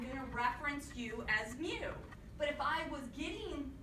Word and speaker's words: mu: mean is greek symbol mu if it's anything it's a u with a little tail on the left it is pronounced with the m sound but i find a